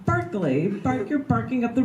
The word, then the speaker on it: Berkeley: Pierre ke le why like you're parking Berkeley park your parking up